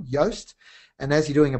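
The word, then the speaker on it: Yoast: can use tools like yast that's spelled like toast but the first letter is a y for yellow yast and as you're doing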